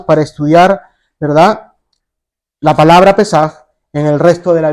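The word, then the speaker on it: Pésaj: De acuerdo al Nuevo Diccionario Ilustrado de la Biblia, la palabra Pascua viene del vocablo hebreo Pesaj, o Pesaj, que lleva tilde, ¿verdad?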